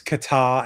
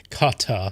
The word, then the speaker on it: Qatar: Well, they do pronounce Qatar as cutter. Oh, fuck me, yes. Qatar.